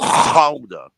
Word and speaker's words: Gouda: And actually, it's pronounced Gouda.